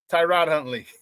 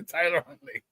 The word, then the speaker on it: Tyler Huntley: Why do I keep getting that dude's name wrong? Tyrod Huntley. To Tyler Huntley.